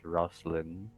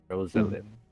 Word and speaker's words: Rosalind: It is Rosalind Bishop. Rosalind Bishop, I should say. Still 3 syllables.